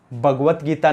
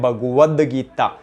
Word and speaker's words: भगवद गीता: फिर बात करें भगवत गीता, भगवत गीता नहीं होता, उच्चारण शुद्ध होता है भगवद गीता, द आता है, तय नहीं आता है, तो क्या हो जाएगा, भगवद गीता।